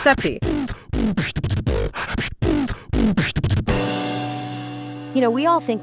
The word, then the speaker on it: Sepe: It's created by David Seppie. Pronounced that way. Pronounced Seppie.